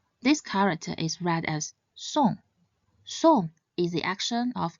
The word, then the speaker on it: 送: This character should be pronounced in the fourth tone, song, song. Note that although it has the same spelling as the word song in English, it should not be pronounced as such.